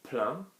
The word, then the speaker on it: plaint: Ma mère se plaint, soft verb, we're not going to pronounce the T, are we? There's no E after it.